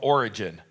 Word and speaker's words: Origen: The next one is called Origen. Origen is spelled E-N at the end. It doesn't mean the origin of something. That's just Origenes in Greek.